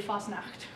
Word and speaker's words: Fastnacht: And it's pronounced properly Fastnacht.